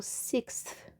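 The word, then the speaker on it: sixth: aqui sexto é o Six é ruinzinho de falar mas esse th no final ele quase não é pronunciado sexta ok eu tô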